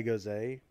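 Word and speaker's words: Gose: a key lime pie goes a from westbrook brewing uh company and it is delicious it's not go it's not french it's german german goes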